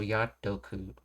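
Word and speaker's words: やっとく: But when you shorten it, the O that gets dropped, its sound gets bled into the previous syllable, so te becomes to, so Yatoku instead of Yate Oku.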